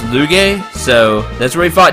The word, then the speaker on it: Lugae: As the game said, it's pronounced Lugae, so that's where we fought him.